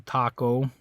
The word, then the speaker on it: taco: to think about it if that was an English word if this had originated in English uh how do you think we'd pronounce that okay what think of some other words spelled similar to Taco and think about how we how we uh pronounce those okay for example we have the game tic tac toe right so with that similar word we say tack instead of talk all right this is Taco not taco um we also